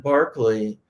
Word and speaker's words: Berkeley: know exactly how ancient latin and greek were pronounced i mean right instead of cicero right yeah and barkley um which is called um berkeley you